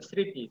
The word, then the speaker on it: স্মৃতি: আমরা কি উচ্চারণ করি স্মৃতি তবে একটা কথা আছে স্মৃতি হ্যাঁ এখানে ম ফলা লিখছি কিন্তু উচ্চারণ করছি না তবে একটা জিনিস হলো